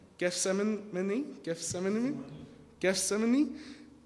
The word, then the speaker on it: Gethsemane: you say it guest simon mini gift seminar gethsemane gethsemane and he said to his disciples see you